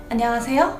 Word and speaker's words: 안녕하세요: âm tiết khi nói tiếng hàn đâu Hãy phát âm giống như khi bạn đang hát vậy 안녕하세요 không giống như thế này Nó giống như